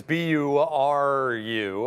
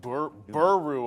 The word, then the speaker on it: Nuburu: would have yeah I would have said Guru but buru apparently is how you want to pronounce that one okay like I think